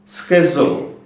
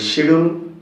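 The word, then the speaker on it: schedule: and repeat after me স্কেজুল স্কেজুল আমরা বলি শিডিউল শিডিউল teacher teacher আমরা বলি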